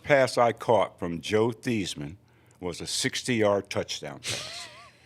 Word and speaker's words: Theismann: Theismann, as he was known at the time. Out there, it's Theismann. Not rhyming with Heisman until he got to Notre Dame.